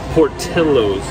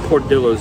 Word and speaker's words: Portillo's: finally made it to portillo's not poor dillos as he was saying i did say it i was saying it wrong i admit it uh